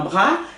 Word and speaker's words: bras: Un bras é um braço. Ça coûte un. Olha aqui, pronúncia. Un. Tá certo? Un. Bras, que eu não falo esse S.